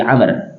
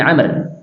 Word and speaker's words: Amr: mim ro berarti Amr Kalau tulisannya Ain mim dan ro saja Ain mim ro wau ini Amr bacanya Ya kalau Ain mim ro itu Umar di sini Abdullah IBN Amr ya tulisannya Mirip ya ain mim ro kemudian wau ini dibacanya dengan Amr J anaknya Amr ibnas radhiallahu